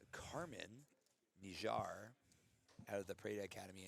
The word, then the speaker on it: Kirman Nijjar: So, you got Katie McBride out of 10th Planet Portland and then uh it's actually pronounced Carmen Nijar out of the Prana Academy and she you know, Carmen just recently got her black belt.